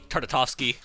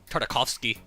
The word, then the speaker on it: Tartakovsky: go back to the good old uh candy tartartovsky tartakovsky yeah that's how you pronounce those name uh visuals which i but